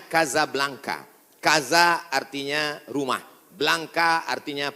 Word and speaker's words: Casablanca: kuliah nama negaranya Maroko ibukotanya tulisannya Casablanca Hai cara bacanya Kasablanka Kaza artinya rumah Blanca